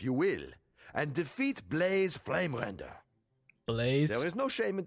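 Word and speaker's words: Bleys: We're not going home to someone else named Blaze, but it's spelled B-L-E-Y-S.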